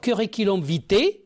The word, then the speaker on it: curriculum vitae: c'est-à-dire l'alphabet phonétique internationale qui vous permettra de prononcer tous les mots que vous ne connaissez pas alors curiculom vit curiculom vit ou CV c'est un nom masculin